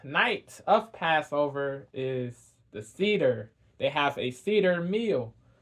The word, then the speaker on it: Seder: Not Seder. Seder is the correct pronunciation. Sorry, Seder, Seder is the correct pronunciation. Seder.